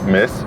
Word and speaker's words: Metz: abandonné, et du coup, il va être remplacé par un truc qui lui ressemble plus ou moins, qui était le TZ, mais qui se prononcera S. Donc on dit Metz et pas Metz.